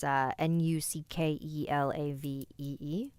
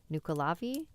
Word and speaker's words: Nuckelavee: So if there's anyone Irish in the chat, please let me know how it's pronounced. It's Nuckelavee, Nuckelavee.